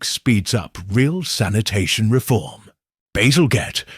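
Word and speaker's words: Bazalgette: Basilgette, pronounced Basiljette, is a civil engineer already respected for London bridges.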